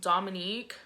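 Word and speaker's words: Dominic: So I am pronounced Dominique. My name is pronounced Dominique, but spelled D-O-M-I-N-I-C, but my nickname is spelled N-I-Q-U-E.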